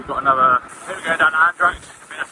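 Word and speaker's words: Andratx: week so we got another we go down andrax I that's how you say it and then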